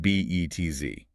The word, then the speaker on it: Betz: And this brings us to the Betz limit, pronounced b e t z, named after a German physicist who studied fluid dynamics over a century ago.